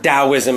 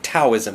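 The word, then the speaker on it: Taoism: spiritual system from China it's spelled with a t but pronounced as a d d this confuses native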